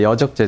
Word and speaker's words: 여적: 지금 저는 뭐 그런 경험에 대해서 말씀드리는 건 아니고 그 내란 업모나 이제 선동 여적 아까 이적제가 아니라 여적죠. 정확한 발음은 여적 이런 부분들을 지금 박 대표님은 마치 기정 사실화 된 것처럼 말씀하신단 말이에요.